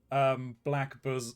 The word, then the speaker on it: Blackbosom: Sorry, Shug, you couldn't see it because of the crop, but he did spell it. Black bosom.